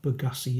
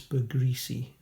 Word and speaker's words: Bergrisi: Not Bergassi, it's Bergrisi. Krona.